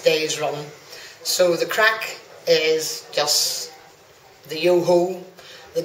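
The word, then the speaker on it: craic: Yeah, look, it's you know, the crack has been fantastic here, and well, the definition of crack, first of all, it's spelt C-R-A-I-C, and the evidence of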